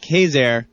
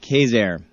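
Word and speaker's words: Quezergue: though it is pronounced Kazair, as you all know from visiting New Orleans and knowing folks from New Orleans, they don't necessarily pronounce things the way they're spelled down there.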